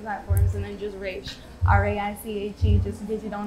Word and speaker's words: Raiche: and then just Raiche, R-A-I-C-H-E, just in case you don't know how to spell it, because nobody ever does. And it's not Rachel, it's Raiche. It's Raiche. Get it together, okay?